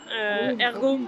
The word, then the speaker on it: Air'Go: nom pas au hasard Hergo parce que ça fait à ergoérapie et ça s'écrit a i r Go aller à l'air c'est